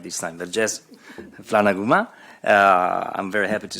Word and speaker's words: Vergès: Laura Vergès, I said it right this time, Vergès Flanaguma.